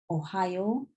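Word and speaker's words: おはよう: And good morning in Japanese is Ohio, like the state Ohio in the USA. Ohayo gozaimasu.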